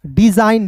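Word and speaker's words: design: यदि किसी शब्द में यदि किसी शब्द में एन से ठीक पहले एन से ठीक पहले जी आता है। एन से पहले यदि जी आता है तो यानी कि जी एन याद रखना है तो जी का उच्चारण नहीं होता है। जी का उच्चारण नहीं होगा।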